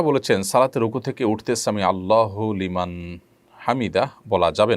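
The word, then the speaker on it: سمع الله لمن حمده: ফেলেছেন দেখুন সামি আল্লাহু সামি আল্লাহু লিমান হামিদা এটি হলো শব্দের সঠিক উচ্চারণ সামি আল্লাহু লিমান হামিদা সামি আল্লাহু লিমান হামিদা এটা সঠিক উচ্চারণ নয় থামতে হবে সেখানেই যেখানে মানুষ ওয়াকফ করবে ওয়াকফ না করলে সেখানে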